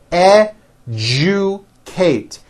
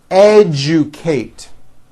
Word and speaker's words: educate: digest Rejoice objective Majesty educate that has also an unusual pronunciation let me break it down for you educate educate next one suggestion this